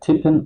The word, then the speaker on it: tippen: So you have here the tendency rule before two times the same consonant like tippen or common short.